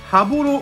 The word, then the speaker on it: 羽幌: ぽいのかな羽幌っていうところにたんですね波面に札幌のポロを描いて歯ボールと読むんですけどもそこ